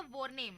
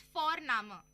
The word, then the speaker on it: Vorname: और जर्मन में हम जिस तरह से लिखते हैं, लिखना और प्रोनाउंसिएशन अलग होता है, तो इसलिए तुम सी साई में कंफ्यूज हो जाते हो, और हम यहाँ पे फोरनामा प्रोनाउंस करते हैं बट लिखते हैं उसको VORNAME। ओके, तो वो हम इंग्लिश के अनुसार प्रोनाउंस करेंगे तो वो बनेगा वॉरनेम, बट नो, इट्स फोरनामा।